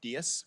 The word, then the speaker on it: Diaz: And just as a minor correction, my last name is pronounced Diaz, which is a different Diaz.